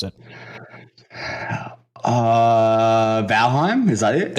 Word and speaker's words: Valheim: game i'm sorry but bellheim is better he says valhein for some unknown reason i don't know why it's clearly an m at the end those guys listening to